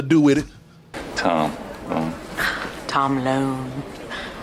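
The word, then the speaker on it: Lone: with it tom tom loan rhymes with cone phone bone well she stopped joking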